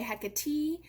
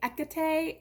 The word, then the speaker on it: Hecate: hecate some people say hecka t uh she is a greek goddess so it's quite likely that you don't pronounce the h at all and depending on the